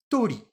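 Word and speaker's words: 鳥: Et oiseau, je le prononce tori.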